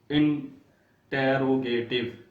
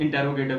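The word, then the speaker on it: interrogative: इंटेरोगेटिव जैसे इंटेरोगेटिव sentences होते हैं जिनको सवालिया फिक्रात कहते हैं, लेकिन ये लफ्ज इंटेरोगेटिव नहीं है, ये लफ्ज है इंट्रोगेटिव।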